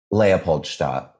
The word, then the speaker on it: Leopoldstadt: LEOPOLDSTADT.